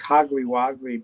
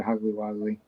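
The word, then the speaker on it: Hogly Wogly: Dr Dr Hogle wogley so it's like hogly wagly but there's only one G okay hogly one g in each word so it's hogly wly although I think some people still pronounce it hugly wagly um Tyler Texas barbecue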